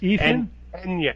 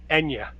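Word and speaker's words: Eithne: It's pronounced enya. No, enya. Enya. Oh, like the uh like the like the musician. Okay. Apparently the th is silent in uh in Irish.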